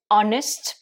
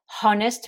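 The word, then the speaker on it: honest: où en est ici c'est un des rares homo ou le hb n'est pas prononcé vous savez qu'en général le h se prononce dans quasiment tous les os en anglais mais celui là ça fait partie des exceptions donc on va pas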